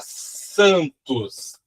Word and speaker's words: Santos: E o outro exemplo para vocês verem, nós temos aí na palavra santos, mesmo caso, ó, ant. Então, Santos, então eu não falo N, ele não tem som.